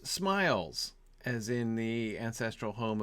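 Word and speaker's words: Smials: Bellon the Wise asks, how does one pronounce smiles, as in the ancestral home of the Tooks?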